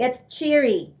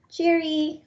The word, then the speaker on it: Chiri: It's Chiri, Chiry. That's Chiri. Cheery, like cheery.